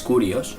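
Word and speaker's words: κύριος: es esclavo y luego señor que es curios que se escribe kirios es maestro o amo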